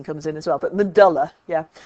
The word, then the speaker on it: medulla: you think about it that word that bit in the middle is dull its medulla it's yeah but a lot of people say medulla and I've heard it